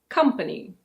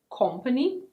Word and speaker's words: company: This one is: company. Company. It's not "cohm-pany". The first part is actually like the verb "come".